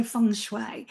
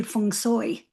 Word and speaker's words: feng shui: we say I so I say funue but actually the way a Chinese speaking person would say it would be fun soy funoy so we're not even saying it right in inverted if